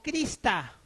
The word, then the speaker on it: Krishna: La palabra Krishna se escribe originalmente en sánscrito Krishna o Krista, ¿no?